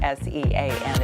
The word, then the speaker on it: Sean: He doesn't know that S-E-A-N is pronounced Sean.